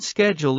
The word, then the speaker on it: schedule: For example, in American English, the word schedule is typically pronounced with a SK sound at the beginning, whereas in British English, it's pronounced with a SH sound.